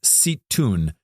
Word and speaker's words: Zeitoun: It's spelled Zeitoun. I was told it's pronounced Zeitoun.